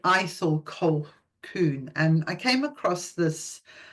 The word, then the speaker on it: Ithell Colquhoun: It looks like Ithell, but it's Ithell. I think her name originally might have been Ethel, and she changed it to something a bit more priestessy. So you pronounce it Ithell Colquhoun.